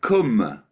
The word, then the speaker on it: cwm: you the reason why it's spelled c w m m e r it's because of Kum Kum cwm it's come it's a valley in W yeah I was